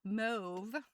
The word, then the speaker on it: mauve: I feel like most of us say mauve, like suave, mauve. But mauve is the other way of saying it.